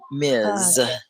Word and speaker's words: Ms: that kind of thing miz you say it like mz and you know there's